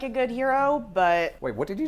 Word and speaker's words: gyro: what it is what's heroic about it no g-y-r-o a hero that's the word that everyone thinks is pronounced gyro well the thing that